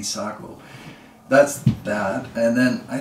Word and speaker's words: Sako: shoot my best but it's supposed to be sock oh that's bad and then